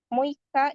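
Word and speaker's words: 六日: Muika itu tanggal 6.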